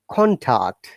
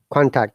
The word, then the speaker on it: contact: example yes dime so we have to stress the first syllable of the word contact so it is higher